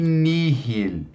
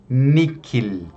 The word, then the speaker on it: nihil: Bom, o H, meus caros, o H é mudo, exceto nas palavras mihi e nihil. E veja, mihi e nihil também nós podemos pronunciar como um K. Então, miki ou níquel, ok?